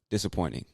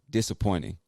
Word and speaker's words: disappointing: americans in my experience we don't really pronounce the t like a hard t it almost becomes an n or just disappears completely so instead of saying